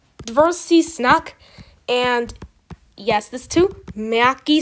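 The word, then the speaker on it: твёрдый знак: In Russian, this is pronounced dvorsi snak.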